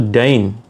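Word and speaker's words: دَين: Dal ya dan Nun tetapi dibacanya berbeda dibacanya itu Dain nah Dain ini apa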